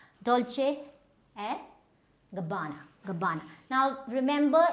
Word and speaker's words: Gabbana: Gabbana. Now remember, Italian names, they will be a little elongated.